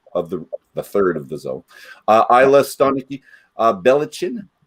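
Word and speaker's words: Ballechin: Islay, Stonicky, Belichin, or is that Belikin? Help me out. Belakin. Which goes to that second syllable thing we're going to talk about later.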